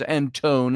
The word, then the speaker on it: Antone: It's Antone is the way he pronounces it.